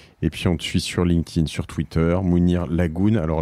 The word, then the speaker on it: Laggoune: Vous vous inscrivez, code La Martingale, et puis on te suit sur LinkedIn, sur Twitter, Mounir Lagoun. Alors Lagoun, ça s'écrit L-A-2-G-O-U-N-E.